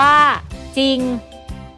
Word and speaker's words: จริง: เสือ ควบ รวม กับ รอ เรือ เวลา อ่าน จะ ออก เสียง ตาม พยัญชนะ ตัว หน้า และ ไม่ ออก เสียง ตัว ร เรือ ล มี คำ ที่